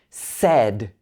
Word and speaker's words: said: sounds confused for example said this is an e sound in the middle said but if i